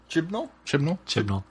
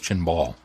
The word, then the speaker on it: Chibnall: will be Chris chibnall how is it pronounced chib chel chib chel chel I always thought it was chin ball it's not CH no CH the N is after the B I think we've said Chim ball in the past but